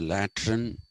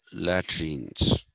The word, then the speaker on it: latrine: latrine is l-a-t-r-i-n-e okay in india for a long time people called it a lateran and even in trains the laboratories were called latrines but the actual pronunciation